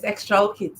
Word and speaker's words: Xtraokids: Yes, Xtraokids, yes. Xtraokids. Yes, all right. From the word extraordinary.